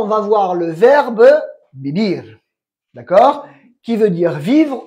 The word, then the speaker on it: vivir: Parce que on verra dans quel moment la UV se prononce V, d'accord? Quand elle est entre deux vocales, par exemple. Ave, un ave, un oiseau. Mais sinon, c'est la UV se prononce B. Ok. C'est écrit des UV, mais se prononce B. Les deux se prononcent B.